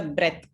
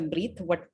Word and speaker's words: breath: Sruthy, in the last report that you just gave, with a breath, not with a breathe, but with a breath, the pronunciation of that word.